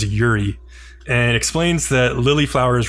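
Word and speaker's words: 百合: So she produces a lily flower in her hand, pronounced in Japanese, by the way, as Yuri, and explains that lily flowers represent virtue.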